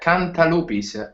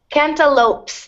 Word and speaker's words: cantaloupes: But Cantalupis, I don't know the pronunciation and the meaning, so Cantaloupes. The E would be silent there, so cantaloupes.